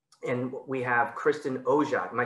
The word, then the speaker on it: Oja: And we have Kristin Oja. Am I saying it right? Yes, hard J, you got it.